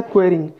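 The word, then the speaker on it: quarrying: देखिए ये होता है स्पेलिंग इसका QUARRING, ये होता है क्वेरिंग।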